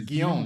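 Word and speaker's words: Guillaume: name he like what it's gon that's how you say it's French and he plays Dr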